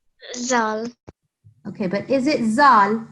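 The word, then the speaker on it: ذال: I've been saying that this is not Z sound like in English yeah it is you have to put your tongue sorry yes your tongue in between your teeth van like that can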